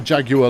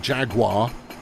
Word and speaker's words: Jaguar: Americans saying the car Jaguar like Jaguar. I'm okay with that. I mean, obviously, to my ear, it irks, but I'm okay with it.